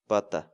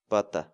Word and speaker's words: pata: series videos where we teach you how to pronounce certain words in Quechua so our word of the day for today is butta butta butta in English the Quechua word but the